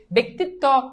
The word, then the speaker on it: ব্যক্তিত্ব: হয়ে যাবে হয়ে যাবে ব্যক্তিত্ব রসিকার আছে এজন্য এই জফলা একার হয়ে যাবে শেষ এবার বলো এটা